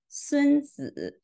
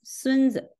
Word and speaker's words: 孙子: It's pronounced as 孙子. In the second word, the second syllable is pronounced in the neutral way, and the word is pronounced as 孙子.